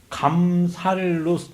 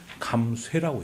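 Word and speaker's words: 減殺: 근데 이제 감살로 읽지를 않고 이때는 감쇠라고 읽습니다. 그래서 그동안 아무도 몰랐던 이 감살과 감쇠의 차이를 홍준표 대표 때문에 많은 분들이 알게 됐다는 거죠.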